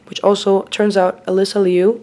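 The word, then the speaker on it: Alysa Liu: which also turns out alyssa liu that is her name not elisa liu why did they suddenly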